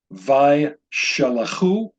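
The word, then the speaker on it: וישלחו: I want to mention whenever you have a closed syllable with a shva beneath it, and it has a degation in it, you'll pronounce the shva that appears beneath that letter. So it's Vaishalachu, Vaishalachu.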